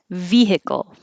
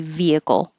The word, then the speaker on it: vehicle: it comes up tonight vehicle vehicle or the question came up do you have to have a good h in the middle no you don't it could be vehicle via via vehicle herb